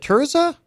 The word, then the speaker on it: Tia: do you say this is it tiza Tia TI T TI t Tia yeah okay what does that